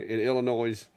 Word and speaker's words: Illinois: clack Your Redneck in Illinois you don't pronounce the S hey I can't help